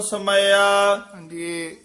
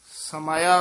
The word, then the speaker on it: समाया: जोत विच हर नाम समया समाया उच्चारण करना है समया नहीं कहना ससी अते मम्मी दे